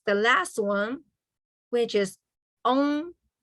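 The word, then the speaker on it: oob: And then the last one, which is on. It pronounced like on, kind of like that, right?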